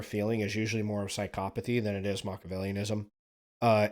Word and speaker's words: psychopathy: we're going to go ahead and jump to psychopathy then and yes that is how you pronounce that word for those of you that